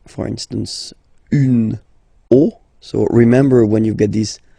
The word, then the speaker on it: os: the end, but then same rule, you don't pronounce it. Des os.